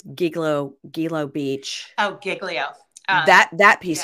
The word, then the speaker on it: Gilgo: It's Gilgo Beach.